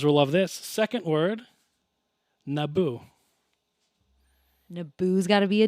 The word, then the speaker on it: Naboo: The word is Naboo. Naboo. N-A-B-O. Naboo. Naboo. Naboo. Naboo. Naboo. What's the emphasis on the syllable, It's bro?